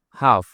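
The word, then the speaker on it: half: হাফ। এইচ এল এফ। এখানেও এল এর উচ্চারণ হয় না।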